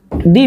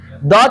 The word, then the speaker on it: the: और केवल द से द को दी भी उच्चारण में कहा जाता है। द जो है वह वीक फॉर्म है, जबकि दी जो है स्ट्रॉन्ग फॉर्म है। दी ही बोलिएगा, द मत बोलिएगा।